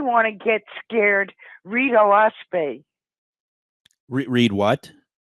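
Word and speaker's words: Oahspe: a s p and it's actually three syllables which stands for Earth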